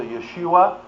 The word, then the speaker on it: Yeshua: important name in uh actually it would have been pronounced something close to Yeshua We have it in translated into Greek and then thereby from Greek into English as Jesus and that name has a very important significance.